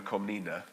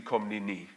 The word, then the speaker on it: Komnene: Well, so normally in English we call her Komnene. Komnene, okay. In fact, it should be Komnene.